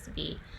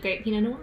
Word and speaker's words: Willamette: the region who's like no no it's not Wilma it's Willamette like okay that's how I would not have pronounced it and then it's kinda like Versailles